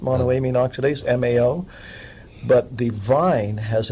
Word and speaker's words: monoamine oxidase: deactivated in the stomach because of something called a mean oxidase is a no it's pronounced monoamine oxidase Mao but the vine has an MAO inhibitor